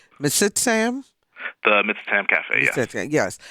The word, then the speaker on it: Mitsitam: you ran the the m i want to pronounce it correctly mitsitam the mitam cafe yes yes so what's the